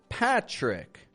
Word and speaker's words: Patrick: name is Pat but my full name is of course Patrick with this kind of ch ch sound when I was a